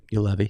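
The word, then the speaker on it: Juolevi: you say his name do you know you you Levy yep you Levy um to Vancouver at five Matthew could chuck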